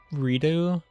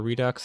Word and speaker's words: Redux: I have Redu or Redux. I don't know what the official pronunciation is. I know proper French would be redo, but a lot of people pronounce the X as the KS sound.